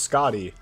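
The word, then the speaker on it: Skadi: No, it's not a matter of I I know that it's pronounced Scotty, but if I have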